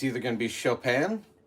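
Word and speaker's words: Chopin: It's either going to be chopan, which is spelled like chopping. C H O P I N.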